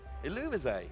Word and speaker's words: Illumise: It's something along the lines of Illumise, or kind of like Illuminate. I say Illumise. Yeah. Let's see how it's... Illumise.